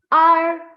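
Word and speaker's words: 二: R, R, R, R, R. San, san.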